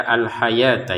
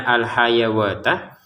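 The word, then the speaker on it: الحياة: Kemudian alhayata di sini kita baca alhayata ya. Jangan dibaca alhayawata karena memang huruf wau ini tidak berharakat.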